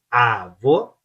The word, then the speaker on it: avô: Avô, avô, ela você abre, avô e fecha.